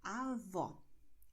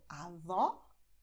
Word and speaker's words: avó: So to grandmother in Portuguese, you say avó. And to grandfather, you say avô. The difference is, well, my mouth. So avó, avô. Avó, avô. You see? Open, close.